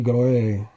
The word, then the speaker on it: gloire: Glory is in French, because I think the E is accented in French. Le gloire is how they would pronounce it in France.